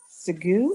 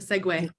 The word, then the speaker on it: segue: Segu, is that what you posted in the chat? Did I pronounce that right? The segue. Segue. Yeah.